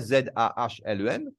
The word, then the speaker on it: Zahlen: Pas Zalen, mais il écrit à Z-A-H-L-E-N. Et en fait prononcer comme ça, Zahlen, c'est un German word for numbers.